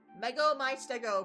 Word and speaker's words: Mego my Stego: Mego my Stego, pronounced Lego my ego.